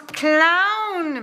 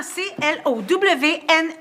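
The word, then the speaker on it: Clowne: On prononce clown. Maman C L O W N E Clown. C'est écossais. Ça se prononce comme ça.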